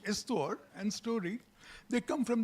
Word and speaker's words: histoire: One little point about history and story is the same word, especially in French, where the word begins with H, histoire, pronounced histoire, and story.